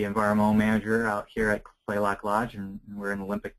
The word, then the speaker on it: Kalaloch: It's actually pronounced Kalaloch. The first A is silent.